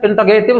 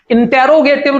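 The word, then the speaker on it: interrogative: पहला है assertive sentence, दूसरा है इंटरोगेटिव सेंटेंस। प्लीज इसका प्रोनाउंसिएशन देख लीजिएगा, इंटेरोगेटिव नहीं पढ़ेंगे, इंटरोगेटिव इंटरोगेटिव इंटरोगेटिव सेंटेंस।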